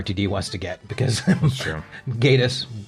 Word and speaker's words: Gatiss: wants to get, because Gatiss or Gaddis, or however the hell you say his name. No, it's Gatiss. You were right the first time.